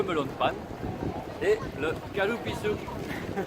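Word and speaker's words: カルピス: Le melon de panne et le kalupisu. Comment tu prononces? Kalupisu.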